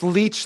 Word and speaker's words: Leitch: It's Leitch like the sucking parasite.